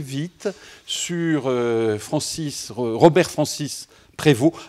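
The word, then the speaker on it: Prevost: Alors je le prononce à la française parce que je suis un homme du nord et Prévu c'est un homme un nom très courant chez nous et on dit Prévu.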